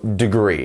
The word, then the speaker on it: degree: we have degree degree so you almost fall from the D to the gree so degree it's not degree or degree it's degree degree good job next up